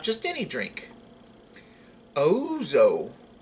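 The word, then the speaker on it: ouzo: Ozo. It's spelled O-U-Z-O.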